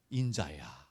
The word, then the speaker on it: 인자: 그러면 에스겔 이렇게 부르는 게 아니고 인자야. 인자라는 뜻은 뭐예요? 영자가 아니죠? 인자. 발음 조심하셔야 돼요.